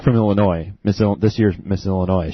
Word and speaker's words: Illinois: It's a dead giveaway because she keeps referring to it as the state of Illinois. Yeah. Yeah. Hey, that should be a requirement right there.